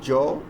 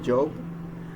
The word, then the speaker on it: Job: Common examples of this are Joe instead of Job, or shave, instead of